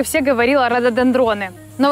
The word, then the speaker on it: рододендроны: деревом находится рододендроны рододендроны Да именно рододендроны ударение на е а не на о прошлой весной я пришла